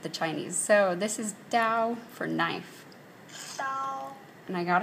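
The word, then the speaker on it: 刀: it's asking me for the definition and the pronunciation instead of the other way around to get the Chinese so this is Dao for knife and I got it right so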